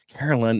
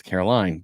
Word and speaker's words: Caroline: It's like Carolyn. No, it's Caroline.